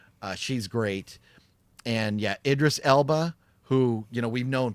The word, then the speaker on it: Idris Elba: It also has James Remar and uh I always say his name wrong is El I always say Idris Idris Elba. Thank you. I cannot pronounce his name to save my life.